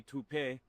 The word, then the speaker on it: Taupe: Uh maybe toup pay. Could be toupe. Yeah, I don't know. Or taupe insurance maybe. I don't think so. Say it right. That's t o p. That's taupe.